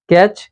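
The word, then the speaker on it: catch: সি এইচ এ চয় টি টা silent থাকে যেমন ক্যাচ জি এইচ ফ যেমন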